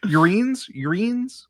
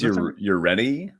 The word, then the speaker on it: Ureni: Urines. I think it's Ureni.